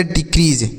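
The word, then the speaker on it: decrease: तो DE से पढ़ेंगे डी, उसके बाद CREA, तो इसे हम पढ़ेंगे क्री। क्या पढ़ेंगे, क्री। और SE से जॉ, तो लिखा गया डिक्रीज।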